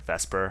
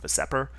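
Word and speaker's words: VSEPR: Um the convention is to pronounce it vesper. I'm not sure why people don't pronounce it vaseer, but anywh who it's vesper theory.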